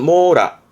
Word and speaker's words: 網羅: 망입니다 그물 망자 그니까 이게 그렇죠 이게 망입니다 발음은 모라 모라 그물 망자에 그물 라자가 붙어서 망라 망라